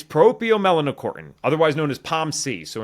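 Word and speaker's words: proopiomelanocortin: ever somehow spell this it's a nine syllable it's propio melanocortin otherwise known as palc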